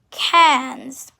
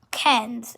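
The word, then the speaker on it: quinze: coutures and 15 is cans cans and 15 is spell actually spelled q u i n z e cans cans it's catchy ken's and 16 is says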